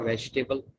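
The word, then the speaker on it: vegetable: अच्छा, ये जो लफ्ज़ है इसमें ई साइलेंट होता है हमेशा, वी फॉर वेजिटेबल। ठीक है, वेजिटेबल का माना सब्जी, इसको वेजिटेबल पढ़ा जाता है लेकिन ये असल में वेजिटेबल है, इसका ई साइलेंट है हमेशा।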